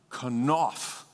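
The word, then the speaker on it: כנף: But the Hebrew word for wings in this verse is the word kanaf, kanaf, kanaf. Say that with me, kanaf. Okay, so accent on the second syllable, please.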